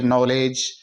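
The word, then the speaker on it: knowledge: ई डी जी ई यहां एन से पहले के है तो के को साइलेंट रखते हुए नॉलेज ही हम इसका उच्चारण करेंगे नो और जी से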